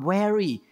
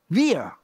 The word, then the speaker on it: wear: I say, weary. I say, no, not weary. Weary. Okay, weary. Okay. Y-B-E-A-R, bear. But W-E-A-R, weir.